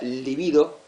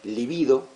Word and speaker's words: libido: Eh, se es una palabra grave, se pronuncia livido. Sí, livido.